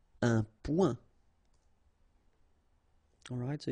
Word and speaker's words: point: Un point. Un point. Alright, so you can see that here the only difference is the final letter, okay, but then they are pronounced the same way and both of them are masculine.